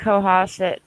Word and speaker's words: Cohasset: Is it how do you pronounce that, Mark? Cohasset.